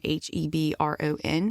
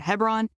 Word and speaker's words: Hebron: for my entire life anytime I have seen h-e-b-r-o-n in the Bible I've pronounced it Hebron and so today if I mess up and get on a tear talking about Hebron forgive me for 38 years I mispronounced it